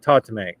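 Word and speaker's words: tatume: It's T-A-T-U-M-E, and I'm going to pronounce it tatame. I apologize if I'm butchering it.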